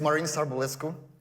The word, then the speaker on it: Marin Sarbulescu: So maybe I should use ChatGPT to actually rename myself, because my name is pretty hard to pronounce. So it's Marin Sarbulescu.